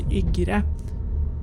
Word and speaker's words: Ygre: So for the next station we are going to be passing, the name is Ygre. No one is getting off there, so yeah, that is actually how you pronounce it, Ygre.